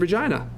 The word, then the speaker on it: Regina: to the University of Regina. And they're like, the University of what, sorry? University of Regina. And of course they thought he said the University of Vagina. But he said University of Regina.